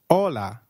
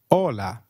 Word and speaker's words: hola: you try that please hola did you get that right hola remember h is always silent in spanish we do not pronounce it let me give you